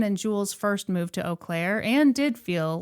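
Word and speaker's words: Eau Claire: I was also thinking about how I had no idea the name of that town was pronounced Oaklair. Whenever I would see it, I would be like, "Oh, it's eclair."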